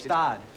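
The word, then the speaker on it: Gstaad: Christmas in Gestad is gonna cost us. Stad. The G is silent.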